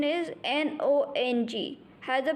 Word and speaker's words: nong: The next pronunciation is N-O-N-G.